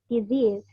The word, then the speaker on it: disease: Nah, itu kan dia harus panjang ya karena dia long vowel atau bahasa lainnya itu namanya tense. Jadi dia 2 harokat gitu bacanya. Jadi bukan cuman disease aja tapi disease.